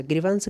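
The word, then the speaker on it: grievance: अच्छा, ग्रीवांस कई बार पूछी गई है, वी के साथ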